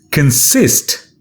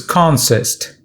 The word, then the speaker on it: consist: to know the way it's practically used it's pronounced as consist when it's used as a verb and as a noun it's pronounced as consist as a noun it's got just one meaning